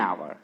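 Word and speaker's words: hour: देखिए 25 में क्या हो जाएगा मेरे प्यारे विद्यार्थियों, एन आवर। ठीक है, है तो एच स्टार्टिंग में नहीं, लेकिन पढ़ते इसका प्रोनाउंसिएशन क्या हो जाएगा, आवर ना, क्या हो जाएगा, आवर।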